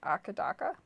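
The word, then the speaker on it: AC/DC: talking about AC DC in Australia it's pronounced akadaka a hakadaka akadaka YouTuber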